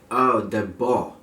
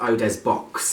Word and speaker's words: Eau des Baux: I had to ask somebody to get the pronunciation of this today because it's just a little bit strange it is called Eau de Bourgh not Oh des box as some people might say it's actually a